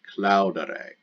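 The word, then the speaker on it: claudere: the present active infinitive ends in e-r-e-a short e r e cloud array now to translate that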